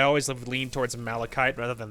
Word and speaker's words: malachite: need refine Melek Matan malachite malachite I don't know how to pronounce it I'm assuming you don't pronounce the CH like a Chuck I'm assuming it's cuff like malachite I'm assuming and so